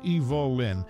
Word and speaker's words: Evelyn: Hollywood's cinematic history notably her first name was pronounced Evol Lin a unique touch to